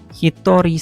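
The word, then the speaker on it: 一人: Jadi satu dan 2 bintangnya cara bacanya hitori sama futari.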